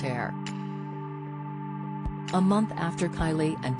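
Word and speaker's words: Aire: boy's name from Wolf to Air, pronounced Air.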